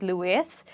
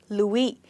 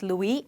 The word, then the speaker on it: Louis: But we usually call it Louis Vuitton, which is a French name, and French people do not pronounce this word as Louis, they call it as Louis.